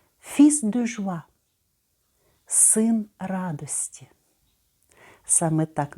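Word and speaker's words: fils: про яке Щойно говорила фісс дужва звертаємо увагу що в цьому слові Я не бачу L і вимовляю літеру с на кінці фіз дуже син радості Саме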